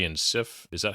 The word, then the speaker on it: Sif: You have, I think, the Warriors 3 and Sif. Is that how you say it? Or just, Yes, Sif.